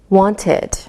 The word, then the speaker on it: wanted: When the last sound of a word is a D or a T sound, we pronounce the ED like id. Listen again. Invited, invited, so it sounds like ID. Needed, needed.